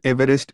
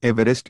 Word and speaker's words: Everest: Mount Everest is not pronounced Everest like everyone else does.